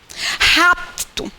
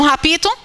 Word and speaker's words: rapto: Repare que quando a gente pronunciar adequadamente esse termo, esse P aqui quase que não sai. Ele quase que é sugado pela vogal anterior. Pelo O. Porque a base da sílaba tem que ser em uma vogal. Então fica opto. Rapto. Houve um rapto. Houve um rapito? Não.